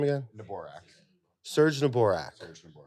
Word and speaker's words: Neborak: Neborak.